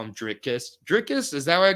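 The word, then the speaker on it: Dricus: That's his name, Drickus. Right. And what do I call him? Driscus? Driscus. Yeah. Driscus. You add extra letters. Yes, I call him Driscus, like Triscuits.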